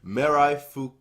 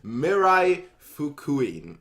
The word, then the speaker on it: Mirai Fukuin: time back so we're here to finally do Mirai fook I'm glad to pronounce properly Mirai Fukui the final thing is the final well doesn't